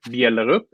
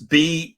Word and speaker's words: Bjellerup: Well, I pronounce it Bjellerup, but I'm pretty used to being called Mr. and you can see why. And it's Bjellerup.